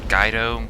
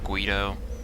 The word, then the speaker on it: Guido: Is it Gaido? Guido. Go. I think it's supposed to be Guido. I'd go with Guido.